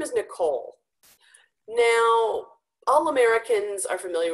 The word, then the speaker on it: Nicole: But it's Nicole, and it's Nicole, stress on the second part, because my name is of French origin. It came from the French language. And so French tends to stress the end points, right? Nicole, rather than the beginning of the first syllable.